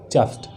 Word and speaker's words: chuffed: क्या है, चफ्ट, CHUFFED, चफ्ट। Pronunciation क्या होगा, चफ्ट।